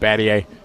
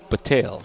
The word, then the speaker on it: Battail: And they spell it Battle. Yeah, right. They spell it Battle. It's pronounced Battier. And Mike Patel's from Texas. That's how you say it. Battail. Like I a don't bat know.